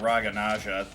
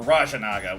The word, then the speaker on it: Raja Naga: Oh, this is an opportunity to get Raga Naja without losing anything else. Or Raja Naga. Whoops, saying his name wrong.